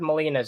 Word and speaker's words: Molina: Well, we already know that Alfred Molina's in it. I'm sorry. Is that how his name is pronounced?